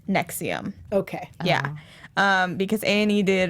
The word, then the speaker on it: NXIVM: that cold it's an ex IVM and it's pronounced nexium okay yeah because Annie did a really really